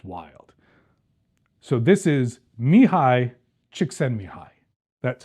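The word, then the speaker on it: Csikszentmihalyi: for you because it's wild so this is mihi chicken mihi that's how it's pronounced I have practiced this many times Mihi chick mihi he's a he's a scientist he's a philosopher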